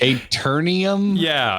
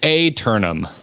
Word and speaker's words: Aeternum: Oh, Aeternum. You end up with no I in there.